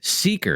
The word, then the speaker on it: Seekr: That's Seeker. It's spelled Seekr.